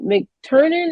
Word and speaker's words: McTernan: McTernan or Yeah. McTiernan? I don't want. No, Okay, McTernan.